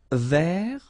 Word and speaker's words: vert: Vert. So masculine form, don't pronounce the final T.